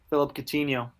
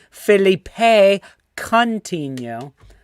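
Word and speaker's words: Philippe Coutinho: Philip Coutinho. Yep. You are correct. Bitch. Of course, it's pronounced Felipe Coutinho.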